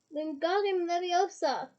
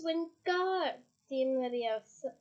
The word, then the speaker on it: Wingardium Leviosa: Wingardium Leviosa! He shouted, waving his arms around like a windmill. You're saying it wrong, Harry heard Hermione snap. It's Wingardium Leviosa. You make the guard nice and long.